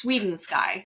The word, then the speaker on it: Swedensky: Uh I won't It's Sweden Sky if you really want that help, but I'm sure you can find in the show notes.